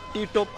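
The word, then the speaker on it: Ti Tốp: पी कर दिया तो इस आइलैंड का नाम टी टॉप है और उस बंदे का स्टैचू भी इधर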